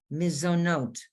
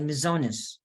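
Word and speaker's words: מזונות: it would be borremine miso note now people who are from the old country would say mizonis but this is miso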